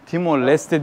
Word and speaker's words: Timor-Leste: Timor Leste diye yazılır, Timor Leste diye okunur. Aynen bu şekilde şu an ülkenin resmi ismi.